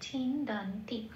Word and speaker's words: ছিন্দন্তি: দটা যেমন আছে তেমন পূর্ণরূপে উচ্চারিত হবে দ বলে। পরের অক্ষর আবার যুক্ত অক্ষর, 9 তাই হস্যই, কাজেই নটা যেহেতু সামনে আছে নটাকে হসন্ত লাগিয়ে বাইরে বের করে আনলাম। আগের অক্ষর দয়ের সাথে জুড়ে উচ্চারিত হচ্ছে দন। টিটা যেমন আছে তেমন পড়ে রইল ছিন্দান্তি।